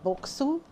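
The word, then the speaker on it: Boksu: And we hope you'll continue to explore new flavors, experiences, and discoveries with our friends over at Boku, and that's spelled B O K S U, and Sugoi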